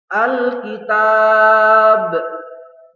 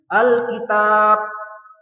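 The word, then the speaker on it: الكتاب: menjadi sukun atau mati calon bacanya Alkitab Alkitab tuh ada pantulannya ya karena di sini adalah huruf Qalqalah Mbak itu merupakan salah satu huruf Qalqalah Jadi bukan seperti ini bacanya Alkitab Nah tidak ada bangku lainnya itu salah yang benar adalah alkitab betul selanjutnya yang terakhir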